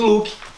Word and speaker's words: Luuck: Quando pronuncia fica Luke do mesmo jeito.